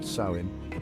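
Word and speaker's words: Samhain: and reverence this night known as sammen pronounced saim was believed to be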